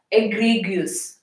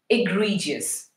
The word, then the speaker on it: egregious: pronunciation have any India so this word has pronunciation egregious egregious they Philomena agree goose but it is actually egregious so egregious objective a